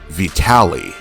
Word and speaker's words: Vitali: the East he's Vitti when he's fighting out west he wants to be called Vitali is he Vitali or